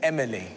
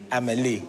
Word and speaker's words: Amélie: And if you note that they've recorded her name as Emily. Emily. Because they couldn't pronounce the Amélie. So they've anglicised it.